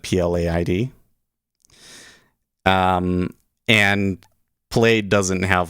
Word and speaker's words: Plaid: you're in the us plate is pronounced plaid okay yeah you have